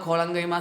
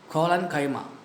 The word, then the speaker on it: collenchyma: Parenchyma, collenchyma, sclerenchyma. Paren, colon, scleren. Pronounce that. Paren, colon, scleren. Parenchyma, collenchyma, sclerenchyma.